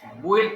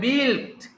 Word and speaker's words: built: বুইল্ট না, উচ্চারণটা হবে বিল্ট।